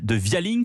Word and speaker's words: Vialink: êtes directeur général de via link que je crois qu'on prononce à l'anglais ce via link la